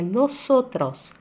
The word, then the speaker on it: nosotros: Não existe som de Z, é nosotros.